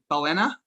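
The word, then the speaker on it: Balena: the ceo of uh am i pronouncing it right ballena ballena or bellina are both acceptable elena velena okay and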